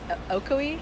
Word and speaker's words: Ocoee: Savannah so you moved here from do I pronounce it okoi aoi yeah aoi Florida um for SC in 2012 around then